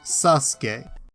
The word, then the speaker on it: Sasuke: have the u silent this is why the name sasuke is spelled sussel k even though it's pronounced sasuke aside from an